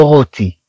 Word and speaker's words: rôti: إذن c'est le rôti. C'est le rôti. C'est le rôti. Le rôti. Le rôti. كما نتكلم عن اللحم مشوي. Le rôti. طبعا كما نلاحظ هنا عندنا R أو تنطق رو. تقريبا مثل هذه.